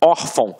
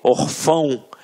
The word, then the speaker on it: órfão: Até mesmo porque se fosse um acento, a gente não ia falar órfão. A gente ia falar o quê? Orfão. E não é o caso. Então aqui, reparem que a sílaba tônica está na penúltima sílaba.